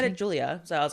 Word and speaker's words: Giulia: Tana is her name Julia Tana but spelled with a G so very fancy so gulia Tana gulia it's like g i u l i a Julia so gilia Tana gilia Tana it's an Italian name and they said it